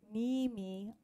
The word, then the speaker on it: Niimi: saying that correctly um a lot of times the double double I would be an aloso a long e sound and double A as well this is by Barbara